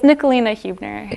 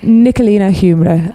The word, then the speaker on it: Necoline Hubner: the beginning it's hard it's Nicolina Hubner Nikolina humor so you did it wrong again didn't I it's not there